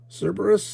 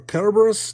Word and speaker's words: Cerberus: up to you okay so Cerberus or carus depending if you're going to go the hard sea soft sea route uh um so be